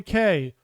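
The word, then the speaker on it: Cay: so number two Castaway K or key if you prefer to pronounce it the correct way but Castaway K is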